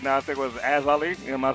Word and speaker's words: Ayzali: I think it was Ayzali. Am I saying it right? Ayzali, like an eye.